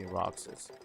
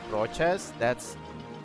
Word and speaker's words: Roxas: So we just say like Roxas. We just say Roxas. If you just change the pronunciation to like Rochas, I think that's a last name. And if you say Rojas, that's just red. So, I mean, it works, but it's not the name.